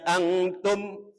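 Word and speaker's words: أنتم: dibaca cara bacanya kemudian Antum itu ada mim sukun atau mim mati bertemu dengan qof atau bertemu selain bak dan mim hukumnya dibaca Idhar Syafawi di atas mim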